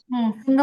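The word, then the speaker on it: سين: জাল, আচ্ছা, তারপরে র, সুন্দর করে টান র, হবে। র। র, জাল, এই মাশাল্লাহ, আপনার জায়ের উচ্চারণ অনেক সুন্দর হয়েছে।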